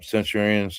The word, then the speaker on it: Centurion: Centurions. Uh or Centur Centurions. Centurion is how you say it.